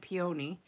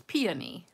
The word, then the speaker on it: peony: I've always said peony, but it's peony, peony. So you got to say peony. So put the emphasis on the P and not the O.